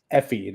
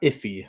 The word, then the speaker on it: Effie: No, I just want to make sure I was Effie, not Iffy.